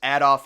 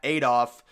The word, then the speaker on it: Adolf: plan for Berlin Germany and yes it is pronounced Adolf Hitler not Adolf uh this was his big plan for Germany